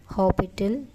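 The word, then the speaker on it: L'Hôpital: चलें, again applying L हॉपिटल rule. लिखने में हॉस्पिटल आएगा बट इसकी प्रोनाउंसिएशन होती है हमारी हॉपिटल।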